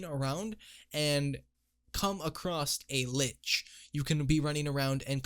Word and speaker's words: lich: spawned the Twilight Lich, which lich, it rhymes, is a problem because according to Grim, the lich doesn't despawn until someone kills it.